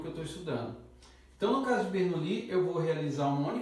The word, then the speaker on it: Bernoulli: a gente vai trabalhar distribuição de Bernoulli ou Bernoulli como também se pronuncia uma ideia geral é